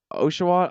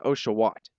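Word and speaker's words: Oshawott: And it's that it's a double T at the end, the very hard T. It kills the cuteness because you I mean otter. Otter is a cute word, but it's got that sound at the end. It's a softer sound, but that there's a but those double T's, it's a hard t.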